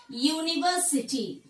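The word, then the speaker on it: university: യൂണിവേഴ്സിറ്റി, union. ഇതൊക്കെ ഞാൻ പറഞ്ഞപ്പോ ഇവിടെ നമുക്ക് എന്ത് സൗണ്ട് ആണ് വരുന്നത്? യൂണിവേഴ്സിറ്റി, യൂണിയൻ എന്നൊക്കെ പറയുമ്പോൾ യാ sound. Here yeah sound is prominent.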